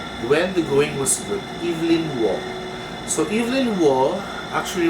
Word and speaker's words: Evelyn: then i learned that the british pronounce they don't say evelyn they say evelyn not evelyn so it's a guy's